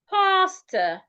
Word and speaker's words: pasta: Now the second word here, P-A-S-T-A. Now this is rightly pronounced pastor, pastor. So do not pronounce the first word like the second word. No, they aren't pronounced the same way.